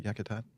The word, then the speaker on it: Yakutat: Did I say that right, Yakutat? It sounds like it should be pronounced that way. They found here, I think, yes, I did.